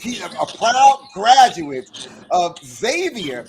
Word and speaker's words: Xavier: a proud graduate of Xavier not Exavier you better say that let them know okay let them know you got to be schooled you got to know how to say it don't say exophone tell him University of